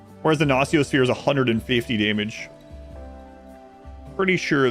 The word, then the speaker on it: Nociosphere: You mean Nokia Sphere? Yeah. Apparently Gnociosphere is how it's supposed to be pronounced. So I tried to force myself to change over to it, that pronunciation, so.